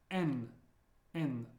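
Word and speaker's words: Н: one is m n I know it looks like an H but it's pronounced like an n as in never n n the way I like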